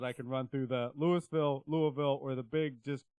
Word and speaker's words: Louisville: moment I would say the easiest and most common is just kind of that Louisville right Louisville uh but you don't have to really over pronounce or over pronounce any of the the pieces of the phonetics there um I've heard some people really put emphasis on the Lille or Lou ofil um and but it's